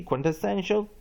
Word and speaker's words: quintessential: Symbolically, his roles represented the quintessential dissident. Now, students, I'm going to redefine those two vocabularies, pronunciation and the spelling improvement and skill.